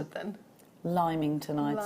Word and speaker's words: Lymington: much is quite possible so how do you pronounce it then limington i'd say south it's just north of the